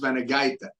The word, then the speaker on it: Vanagaite: So first of all, I have to correct you. Her name is Vanagaite. Okay. That's the way it's spelled. That's the way it's pronounced in Lithuanian.